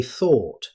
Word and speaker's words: thought: Now, compare that with thought. Native speakers say thought. You'll hear the same vowel sound in words like bought, caught, taught, and fought. Finally, we have tough.